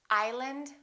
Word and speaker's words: island: cupboard my kitchen cupboard silent s Arkansas Illinois Island debris all right one more